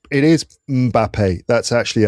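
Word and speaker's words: Mbappé: It's It is Mbappe. That's actually how it's supposed to be pronounced. It's not Mbappe. As some people say, Mbappe, which I always think makes it sound like M is his initial.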